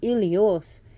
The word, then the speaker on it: Helios: Helios is still, some people see him as Helios, pronounced Ilios, is still the titan of the sun, while the Olympian of the sun is Apollonos.